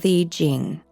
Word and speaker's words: Tao Te Ching: In the Tao Te Ching (Pronounced: Dao The Jing), ancient Chinese philosopher Lao Tzu (Pronounced L-ah-oh D-zoo) wrote: "Life is a series of natural and spontaneous changes.